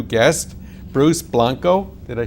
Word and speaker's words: Blanco: Bruce Blanco, did I say that name right?